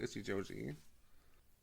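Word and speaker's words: Ichijouji: hole joke weird yeah his last name is pronounced itchy Joi that was good that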